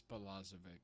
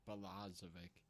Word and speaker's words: Balazovic: And at number 97, Jordan Balazovic, I believe is how you pronounce that. I've also heard Balazovic. I've also heard. It's Balazovic.